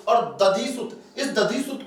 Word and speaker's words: दधिसुत: वापस दे दे, और दधिसुत, इस दधिसुत को जब भी आप पढ़ते हो दोस्तों, इसमें ऊ साइलेंट रहता है, उदधिसुत। और उदधि समुद्र का पर्याय है, और समुद्र का